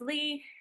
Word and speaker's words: Le: so I just said my name is Lee um spelled funny nobody ever knows how to pronounce it but I'm Lee I'm a therapist supervisor